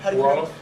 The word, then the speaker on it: Wolof: They spoke Wallet. How do you say it? Wolof.